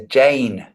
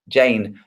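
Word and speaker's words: Jain: it's we in we we refer to it over here as Jane okay don't yeah don't pronounce j j Jane J the Jina are people who follow jism or jism j a i n Jane H yep yeah potato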